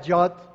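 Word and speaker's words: יוד: La primera letra que se pronuncia Yod, Yod, que es la Y de yuca, ¿sí?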